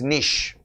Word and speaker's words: niche: market strengths and weaknesses some some pronounce it as nisha and some pronounce it as niche yes either things are correct you can pronounce it as nisha or nish okay niche market and